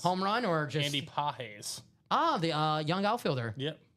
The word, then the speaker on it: Pages: Andy Pages. Oh, the young outfielder. Yep. Okay. Spelled Pages. Yeah, exactly. Yes. It's pronounced Pages, but yeah, Pages. Ronnie wants to do a diamond single.